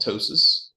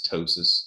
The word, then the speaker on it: ptosis: So that's called ptosis. I still call it ptosis just to remind myself and remind people there's a P there, but the actual pronunciation of that is ptosis, if you're wondering.